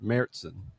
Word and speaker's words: Märzen: Märzen.